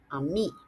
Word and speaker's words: Ainee: It sounds like it should be properly pronounced ami, which sounds like friend in French.